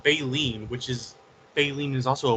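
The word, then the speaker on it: baleen: referring to well because it's pronounced bileen which is Bine is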